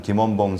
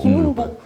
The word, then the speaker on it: 김원봉: 그래서 저희가 최근에 그 약산 김원봉 선생님을 김운봉이라고 김운복 뭐 이렇게 발음하고요. 예, 운봉.